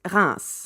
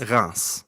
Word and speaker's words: Reims: What's the true correct French way to say it? In French, it's Reims. Reims. Yes. Okay. Reims. I know it's quite hard to say.